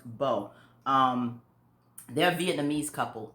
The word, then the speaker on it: Bao: i'm pronouncing it right bo b-a-o i think it's pronounced bo um they're a vietnamese